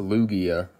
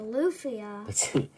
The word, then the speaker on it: Lugia: this is luffy uh it's a lugia no it's a luffy that's how you say it in the show no that's not sweet it's lugia what does the g make do i need to send you back to kindergarten no all right i'm